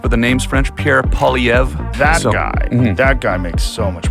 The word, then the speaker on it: Poilievre: Pierre Poilievre. That guy makes so much more sense. Yeah. He's so common sense and just calling out all the nonsense that's been done. Do you think Poilievre would be a better leader for this country?